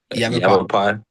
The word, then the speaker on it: Yavapai: Yavapai. Yavapai. Yavapai? Yeah. Like you have a pie?